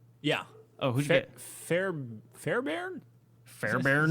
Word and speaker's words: Fairbairn: Fairbairn? Fairbairn? Like Care Bear? Care Bear. I think that's how you say it.